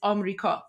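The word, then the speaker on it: آمریکا: پیام Guys, so the way we pronounce America, the way that we pronounce America is Amrika.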